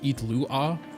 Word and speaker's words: Illuga: He's pronounced Itlua.